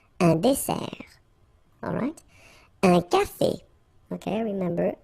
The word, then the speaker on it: dessert: So, remember that we've got here two S. Okay? That's the reason why you pronounce it S. And then it opens the dessert. Un dessert. So you don't say un dessert, okay? But you say un dessert. Final T not pronounced.